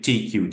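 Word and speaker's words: TEIQue: The TQ, you will see here, we pronounce it TQ, just the T and the Q, the consonants.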